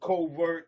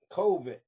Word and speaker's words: COVID: A Covert 19, no, not Covert. That's what I be mispronouncing this disease as. This is a COVID.